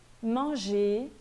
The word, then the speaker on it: manger: Mas quando ele termina em R, quando a palavra termina em ER, esse R, via de regra, não é pronunciado. Então, eu vou ler parler, manger, nager.